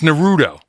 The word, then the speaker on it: Naruto: How do you pronounce it? That sounds right. It's Naruto.